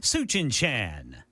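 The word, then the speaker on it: Tsuchinshan: Suchin-chan. Wow. All right. I'll go with that pronunciation.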